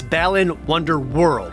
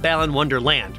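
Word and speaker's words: Balan Wonderworld: that everyone unknowingly mispronounces seriously it's balin wonder world not balan wonderland which blows off the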